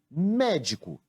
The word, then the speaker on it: médico: Foi a sílaba mé, mas também podemos fazer chamando a palavra médico, médico.